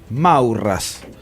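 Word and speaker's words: Maurras: gusta citar para diferentes asuntos que se llamaba morrás maurrás se escribe carlos mauro morrás en un libro que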